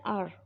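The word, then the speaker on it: hour: But basically H यहाँ जो है साइलेंट है, साइलेंट वर्ड कहलाता है यहाँ पर। तो इसका साउंड क्या निकलता है? आर, एन आर।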